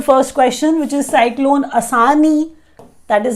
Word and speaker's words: Asani: So I'll start with the first question, which is Cyclone Asani. That is how they are pronouncing it.